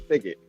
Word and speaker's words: Pickett: of lenzo but uh I hope I'm pronouncing your last name right pick it yes like Wilson pick it yes but here you